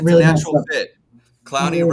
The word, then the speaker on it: Clowney: Clowney rhymes with Brownie.